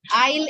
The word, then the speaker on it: aisle: These both are aisle. S is silent in both of them. Yes. S is silent. Aisle is the correct pronunciation for both these words.